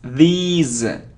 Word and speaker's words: these: the stress is on this syllable etc etc not etc now it isn't this now it's these it's long sound and the sound is Z these days okay so